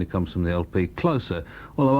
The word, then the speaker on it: Closer: That's Theatre of Hate on Division, and that's Decades, and it comes from the LP Closer, although our Brian actually today pronounced it Closer, as in something that closes, and I never thought of it like that before.